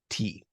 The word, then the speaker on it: ti: The word for hand in Uchinaguchi is ti, not te.